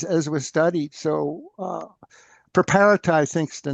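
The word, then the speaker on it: Preparata: As as we studied, so uh Preperata I think is the name of the main Preperata is the correct pronunciation I was told really.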